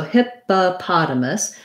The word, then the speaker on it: hippopotamus: um so um we do stress the pot but we have another o before it so hippopotamus because the hippa is unstressed we have an if owl and sounds like just the word hip like we were talking about with ship and then that first o says uh hippa then in the stressed syllable very often in english when you have letter o in a stressed syllable it's going to say that ah sound just like we were